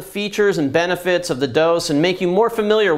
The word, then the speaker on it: DŌS: first of all uh the product is pronounced dose I know it's kind of funny looking it only has three letters and we left the E off um but we do have some people who are still stuck in the ' 80s and calling it Doss uh you know who